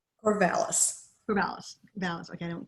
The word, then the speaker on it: Corvallis: Corvallis. Corvallis. Okay, I don't pronounce it right.